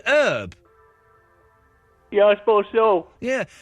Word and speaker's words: Herb: Now, is his name Herb or Herp? It's Herb Alpert. Oh, I always get confused with the B's and the P's. So, he's American. I guess they call him They pronounce it Herb.